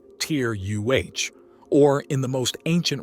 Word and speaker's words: Terra: Terra, pronounced Tyr-UH, or in the most